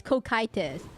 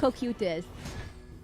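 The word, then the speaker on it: Cocytus: No, apparently Japan pronounces it all the way wrong. It's Kokitis. It's not Kutis.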